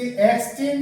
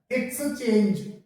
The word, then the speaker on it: exchange: तो उसके लिए EXCHANGE, इसे एक्सचेंज नहीं बोलते, इसका सही प्रोनाउंसिएशन होता है एक्सचेंज, एक्सचेंज, इस तरीके से इसका प्रोनाउंसिएशन होता है।